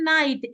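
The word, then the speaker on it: knight: एच टी नाइट spelling but जब हम उसको प्रोनाउंस करते हैं बोलते हैं तो के साइलेंट हो जाता है के की आवाज हमें सुनाई नहीं दे रही है तो हम लाइट बोलते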